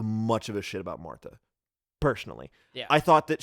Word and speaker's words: Martha: Actual Martha, I keep saying Martha because that's just the... Yeah, it's how it's pronounced.